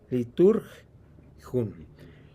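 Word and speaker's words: λειτουργία: Ahí la escriben leuturgeon, pero se pronuncia en el griego, les he dicho que es como el francés y el inglés, que se escribe de una manera pero se pronuncia de otra. La pronunciación es liturgium.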